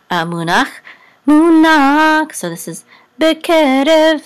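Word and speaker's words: בְּקֶרֶב: So this is bekerev. So the accent is on ke, bekerev, and this is a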